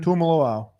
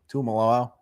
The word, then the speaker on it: Tuimoloau: Tuimoloau. How? I don't know. Tuimoloau.